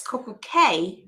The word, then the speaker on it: Coco Cay: So it's Coco Cay. Yes. But anyway, because it rhymes with perfect day.